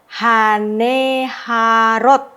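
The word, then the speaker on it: הַנְּהָרוֹת: Berarti ha ne ha rot. Nah, haneharot e-nya dibacakan nah kata yang di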